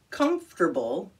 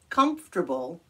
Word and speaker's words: comfortable: of them there we go that girl is comfortable comfortable giving comfort to others anywhere in the world can you pronounce it we'll do it one more time